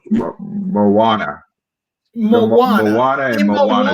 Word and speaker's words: Moana: you know the Disney movie, the one that just came out about the South Pacific, Monona, did I say it right? Mono too. Moana.